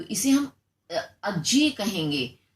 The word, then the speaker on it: अज्ञेय: ठीक है, एक होता अजय, जय खाली जय होता तो अजय बोला जाता, लेकिन अज्ञेय बोल रहेंगे हम इसे।